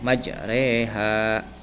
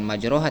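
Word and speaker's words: مجريها: asim riwayat hafz nah Jadi dibacanya majreha Bukan majroha tapi majreha Bismillahi majreha wa mursaha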